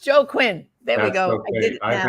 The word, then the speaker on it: Joaquin: And joining me today to give the man's perspective, the dad's perspective, is Jeff Joaquin.